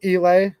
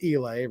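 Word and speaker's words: Eley: Federal punches that way, and anything, I think it's pronounced Elay, right? E-L-E-Y.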